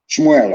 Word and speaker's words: Shmuel: Shmuel, of course, correct pronunciation.